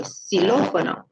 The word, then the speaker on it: xilófono: So here, this one is an S sound, so xilófono.